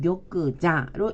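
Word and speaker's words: 玉座: 일본어 발음을 볼까요? 자, 옥석 그러면 격그세키로 읽어주고 옥좌일 때는 격그자로 읽어줍니다.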